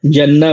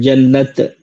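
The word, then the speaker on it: جنة: अगर जो है यहां पे एसटी सिंगुलर वर्ड बोल रहे हैं तो जन्ना बोला जाएगा। लेकिन इसको बड़ी ता के साथ उर्दू में लिखते हैं जन्नत।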